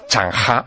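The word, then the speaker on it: Zheng He: personaje que se llama sene Bueno en realidad si lo tengo que pronunciar a la china es chanha este este chanha para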